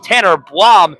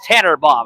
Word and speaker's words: Tannenbaum: I was accidentally mispronouncing it, saying Tanner Blom. It's Tanner Baum.